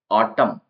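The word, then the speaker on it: autumn: इसके अंदर नेक्स्ट है एन साइलेंट ऑटम ऑटम के अंदर लास्ट में एन लिखा हुआ है तो इसको ऑटोमन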